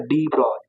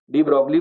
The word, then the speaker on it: de Broglie: वो क्या होता है, डी ब्रॉय, डी ब्रॉय, डी ब्रॉगली को डी ब्रॉय बोलते हैं, ठीक है।